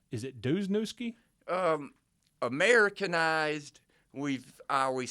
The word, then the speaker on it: Dluzniewski: right so first of all how do you pronounce your last name is it dusnewski um Americanized we've I always said dues nesky news now if you wanted to be ethnic